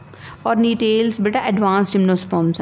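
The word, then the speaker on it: Gnetales: बेटा जी is silent नीटेल्स में, right.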